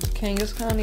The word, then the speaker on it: Kangaskhan: How do you pronounce it? Kangaskhan? Kangaskhan, yeah, that's what I was saying.